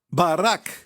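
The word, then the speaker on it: ברכה: contrário ok Pet CAF se pronuncia Barack o nome do presidente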